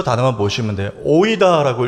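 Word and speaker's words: οἶδα: 오이다라고 읽는 헬라어예요.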